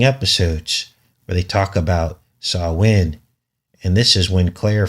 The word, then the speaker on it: Samhain: And it's pronounced Samhain, but it's actually spelled Samhain, if you were to want to look this up.